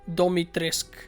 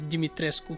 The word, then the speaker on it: Dimitrescu: single character including lady dimitresco herself are actually not pronouncing the name correctly i mean her pronunciation is the worst of all she literally says domitrisk instead of dimitrescu the next zone i